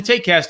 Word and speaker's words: TaekCast: the take cast didn't it's not spelled how do they find it oh yeah it's it's spelled it spelled like a joke because i didn't ever think i was gonna host this podcast for four years it's t-a-e-k but if you just